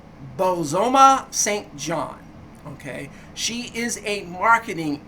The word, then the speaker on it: Bozoma Saint John: Bozoma Saint John.